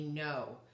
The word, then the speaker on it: know: to be no k-n-o-w so we just talked about how the the k is silent when it's followed by an n and then the o w in this case gives us a long o and not the owl not the o u sound okay so you can